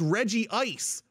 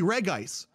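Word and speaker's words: Regice: Okay, well that's like saying it's Reggie Ice when it's obviously Reg Ice.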